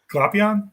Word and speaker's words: Glapion: Glapion, Jonathan Glapion.